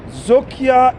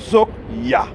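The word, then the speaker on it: Zoekjaar: Zokia in English is called search year. Zok is a Dutch word that means English search. Ja in English means year. So it is spelled Z-O-E-K-Y-A-A-R. Zokia.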